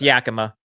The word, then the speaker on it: Yakima: How do you pronounce it? It's Yakima.